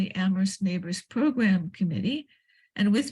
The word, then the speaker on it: Amherst: Amherst Neighbors is all one word, and the Amherst has an H in the middle of it, and so don't forget to type that in. We don't like to pronounce it, but we need it when we're writing it out.